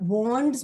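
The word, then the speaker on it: Wands: Pentacles again आप नाम याद रख सकते हो, कप्स होता है, और वॉन्ड्स में डी हमारा साइलेंट होता है, द वे यू से इट इज वॉन्ड्स एंड swords.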